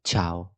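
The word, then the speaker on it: ciao: ايه من غير الاي يبقى الاي هنا دورها بس ان هي هتخليني اقول تش ت تش ج ت مش اكتر من كده يبقى تشاو تشاو ميكعمو جاكمو واضحه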